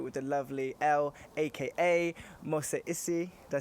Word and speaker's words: Mose Issie: I'm here with the lovely Elle, aka Mose Issie. Did I say that right? Yes. Is that good? Like, yes. good pronunciation?